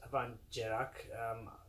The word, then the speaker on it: Abhainn Dearg: avon gerard distillery pronounced van gerak in the title you